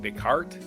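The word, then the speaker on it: Descartes: But night uh 1596 f m French mathematician Renee Descarts descart deart Deart that's how you pronounce it decart widely considered a father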